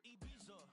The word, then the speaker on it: Ibiza: Yeah, it's pronounced Ibiza, actually. Yeah. What's the difference, man? Ibiza, Ibiza, you won't see me in neither.